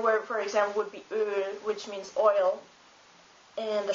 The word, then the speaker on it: Öl: Like, what comes the closest to it is the I in sir or the U in turtle, but it's pronounced Ö. A German word, for example, would be Öl, which means oil.